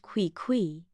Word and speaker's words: Quiqu: For one, his name was Quiqu, pronounced Quiqu, which sounded less like a cat and more like a squeaky door.